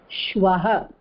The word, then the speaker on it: श्वः: ஸ்வஹ, please see the pronunciation, it is shvaha.